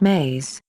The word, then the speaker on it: ME: We will examine this story once and for all because it is the backbone of all belief systems, which we will call MEs, pronounced maze.